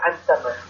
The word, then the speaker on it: Ensheim: Tiens, pas très loin de chez toi, à Strasbourg, alors je crois que c'est Ensheim, hein, qu'on dit, si je prononce bien. Oui, c'est ça, Ensheim.